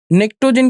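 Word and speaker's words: pnictogen: नेक्टोजन की जो स्पेलिंग होती है वो थोड़ा ध्यान देना है। पी साइलेंट होता है।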